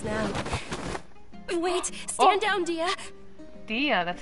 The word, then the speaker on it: Dehya: to find us now wait stand down dia dia that's how you say it oh dear she's